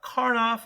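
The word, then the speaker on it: Karnaugh: going to be talking about karnoff or karno maps depending on the way you pronounce it usually it's just abbreviated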